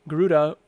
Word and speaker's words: Garuda: So, but I guess someone said it's just pronounced Garud and not Garuda natively. So, I've heard it Garuda.